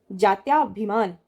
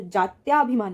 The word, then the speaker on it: जात्यभिमान: जात्याभिमान, तो जात्याभिमान नहीं होता है, जात्यभिमान होता है, ध्यान रखिएगा, जात्यभिमान।